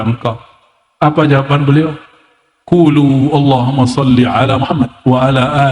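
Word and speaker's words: اللهم: situ ada mimnya Allahumma Gimana cara bacanya Allahumma bukan Allahuma allahum dia mesti ditasbidkan Allahumma ya dan dia harus men idgham ya ada rahasia di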